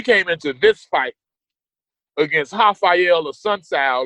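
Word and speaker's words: Raphael: the uh Cody garbrandt hael a sun KO and I'm saying hael but it's spelled with an R that's how Brazilian names are pronounced the r it has an H sound and it was it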